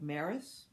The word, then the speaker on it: Marais: a i s and probably it's pronounced more like Maris okay this is about